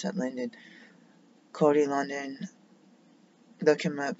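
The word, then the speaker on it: Lundin: I looked at Cody London, I should pronounce that Linden.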